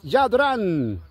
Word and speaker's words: Jadran: Jadrán. Así se escribe, pero es Yadrán.